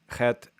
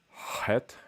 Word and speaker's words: Chet: Chet used to be het, which is a constriction at the back of the throat.